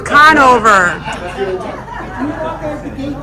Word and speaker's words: Conover: Canova. Conover, okay. Trying to get the pronunciation. What? Nico, don't listen to Nico. It's Conover.